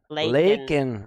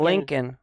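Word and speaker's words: Laken: Lakin, right? Not Lincoln. Not Lincoln. Lakin, right? Not Lincoln. Yeah, Lakin. and Lakin.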